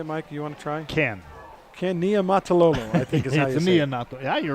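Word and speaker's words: Niumatalolo: to say it mike you want to try can can nia mataloma yeah you're right very good i'm impressed but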